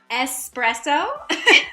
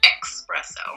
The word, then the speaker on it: espresso: there's no X in it, so would this No. be espresso? It is. I was thinking of espresso, and you do hear a lot of people mispronouncing it espresso. I wonder where people got that. I guess just we're used to the term express, and so... It is. It doesn't have anything to do with speed.